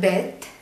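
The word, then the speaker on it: בּ: നടുക്ക് ഒരു ഡോട്ട് വന്നാൽ അത് ബെത്ത്, ഡോട്ട് ഇല്ലാതെ ഇങ്ങനെ എഴുതിയാൽ ഇത് വെത്ത്.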